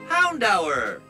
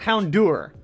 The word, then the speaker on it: Houndour: mouth out with soap it's the hour of hounds found our not houndour ah what do I do